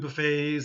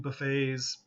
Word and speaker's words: buffet: The next pronunciation of this word, there seems to be a lot, is buffet, okay? Buffet is the verb.